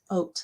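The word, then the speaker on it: haute: best friend who's British I called it hot pink and she goes or hope pink and she goes oh honey oh no no it's oat like oatmeal oat pink you know she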